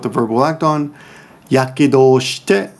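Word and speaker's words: 火傷: Yakedo, this together is pronounced yakedo. That's not usually how you pronounce that, but we just agreed, Japanese agree, that when you put these together, it will now be pronounced yakedo. It's kind of a forced pronunciation, but everyone kind of agreed on it.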